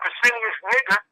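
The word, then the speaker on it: Pescennius Niger: And then you have Pesinius Niger. Like I said, that's how you pronounce his name.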